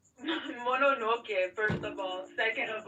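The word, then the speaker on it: Mononoke: I believe you've made lots lots of comments about Princess Monarch. Monoke, first of all.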